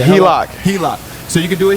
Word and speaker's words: HELOC: HELOC.